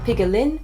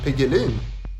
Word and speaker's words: piggelin: For those of you who aren't Swedish, pigelin is a classic Swedish icy treat, in this case made into the form of a hard apple candy.